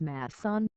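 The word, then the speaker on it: Macoun: His surname pronounced as Masson. Its Czech origin.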